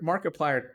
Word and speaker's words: Markiplier: gamer like us Mark Markiplier kind of sounds like the word multiplier but with a name thrown in so it sounds like